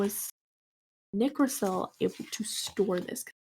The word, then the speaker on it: Nicrosil: So if it's derived from nickel, I would assume that it's pronounced Nicrosil.